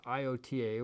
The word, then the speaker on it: iota: we can put this IOTA, which they pronounce as iota, as it's spelled.